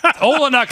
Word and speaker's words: Olynyk: Olynyk in Canada. Yeah, because he got traded to the Raptors, and it rhymes with Canuck.